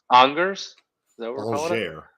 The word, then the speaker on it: Angers: If we're not pronouncing consonants, we're talking in French. So, yeah, we're in Angers.